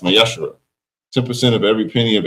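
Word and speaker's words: ma'aser: You can find this in numbers 18 21 and Malachi 3 8-10 means 10th in Hebrew and is pronounced masher.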